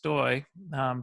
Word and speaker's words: Stoj: My name is last name is pronounced Stoj, but it's spelled Stoj. The J is like a Y, and so my handle on Twitter and Facebook and Instagram is actually Stojboy, Stojboj.